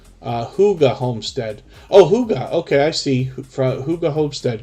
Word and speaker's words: hygge: is that higgy homestead forgive me if i'm pronouncing that wrong uh hygge homestead oh hooga okay i see hygge hobested good to see